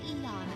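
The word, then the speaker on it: Aeon: Thou shalt have our blessing when thou choose to create a persona of the Aon Arana. You're saying it as Eon. It's Aon. You're saying it wrong.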